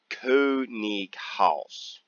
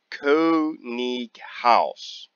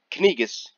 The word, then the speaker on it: Könighaus: Now, I'm not entirely sure on this, but I believe that proper German pronunciation is Könighaus. Könighaus. Not Kanigas. Könighaus. Könighaus.